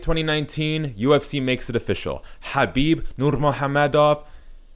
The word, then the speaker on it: Khabib Nurmagomedov: UFC makes it official Habib Norma Hamid off and that's actually how you pronounce his name well you know to